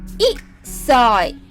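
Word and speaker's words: 一歳: A year old, we pronounce it 1歳 not 1.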